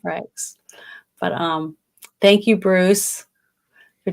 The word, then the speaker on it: Frakes: That's how you say his name. I always say Frank. I don't know why I do that, Franks. But I meant Frakes.